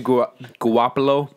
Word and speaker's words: Garoppolo: Which, talking about San Francisco, they've actually won 2 straight games now behind Jimmy Garoppolo. Garoppolo. How do you pronounce his last name?